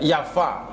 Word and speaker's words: Jaffa: Grup Hibbat Zion, mereka mendarat di Java, ya Java bacanya. Nanti makin banyak nanti mereka mendirikan kota Tel Aviv. Kota aslinya, kota tuanya namanya Jaffa. Makanya masih ditulis sama orang Yahudi Zionis itu Tel Aviv Yafo. Yafo itu Jaffa.